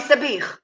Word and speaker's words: sabich: Sabich, I'll Sabich. give you an advice, Aviv. Before you're going to say Sabich, you have to wet your throat.